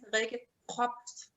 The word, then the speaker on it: Rikke Probst: So your name is Rikke Probst.